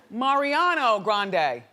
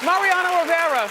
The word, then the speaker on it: Mariano Rivera: Say it right, say it right. Mariano Grande. Rivera? Rivera. No. from the Yankees? Yes, Mariano Rivera.